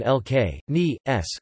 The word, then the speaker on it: Licinius: Licinius II or Licinius the Younger, classical Latin pronunciation LK, ni, s, full name, Valerius Licinianus Licinius, c.